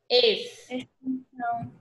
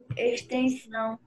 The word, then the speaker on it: extensão: E com o som do Szinho lá de C. O sonzinho lá do S, ó. Esse. Extensão. Qual é, Isabelle? Extensão.